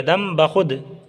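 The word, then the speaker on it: दम बख़ुद: कदीम, ज़ईफ़, दम बखुद, बखुद नहीं पढ़िएगा, जल्दी पढ़िएगा, दम बखुद।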